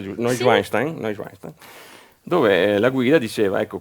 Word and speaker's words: Neuschwanstein: il castello, tu dovrai saperlo, di Neuschwanstein, Sì, Neuschwanstein. pronunciato giusto, Sì. Neuschwanstein, dove la guida diceva, ecco, questo è il